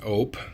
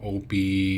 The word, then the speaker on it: Ope: if you don't know my name is ope that's how you say it now OB not all that it's a Midwest kind